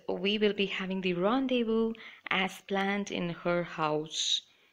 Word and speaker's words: rendezvous: particular word rendezvous initial even I had a trouble pronouncing this but eventually I learned so its rendezvous and it means a meeting planned at a certain time in place so Z silent here and an example is